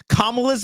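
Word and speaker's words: Kamala: bent over backwards to pronounce kamla's name correctly just because I was corrected that it was comma and I didn't want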